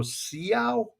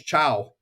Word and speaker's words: ciao: word I see is I try to pronounce it. I go, "Siao," and this guy next to me he looks at me and goes, "Man, it's going to be a long semester." I didn't even know how to pronounce "chow."